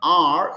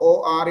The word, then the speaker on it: or: It is not "ar", it is "or". o r is "or".